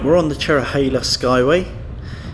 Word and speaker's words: Cherohala: the chera hailer Skyway many people mispronounce this road is the chera holla but it's actually the chair oh hey let's go away or more affectionately known by some as a cherry cola highway cue Neil Diamond